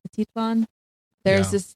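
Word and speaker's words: Atitlán: Atitlan. Atitlan.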